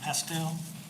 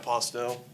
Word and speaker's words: Postel: wrong please forgive me i believe it's pastel myself i live in westminster my name is postel uh two weeks ago